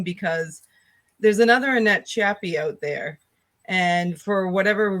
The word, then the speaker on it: Chiappe: It's pronounced Chiappe. Chiappe.